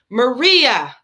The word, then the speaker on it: Maria: folks call me marie it's not that hard to spit out the third syllable right maria maria actually a lot